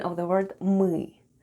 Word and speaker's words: мы: Let's have a look at the spelling of the word МЫ /mêê/: the first sound is /m/ and then we have Ы /êê/ and all together it's МЫ /mêê/, which is Russian for "we" Let's spell the word ПЬЁМ /p'yom/.